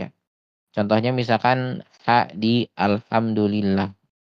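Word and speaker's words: الحمد لله: Contohnya misalkan ha di alhamdulillah kita nyebutnya biasanya ee alhamdu itu menggunakan H tipis atau H kecil ya biasanya tertukar dengan H yang besar.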